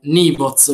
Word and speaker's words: Nyvoz: abbiamo come ospite speciale Michele Mazzani con il suo progetto Nivoz, li pronuncio bene?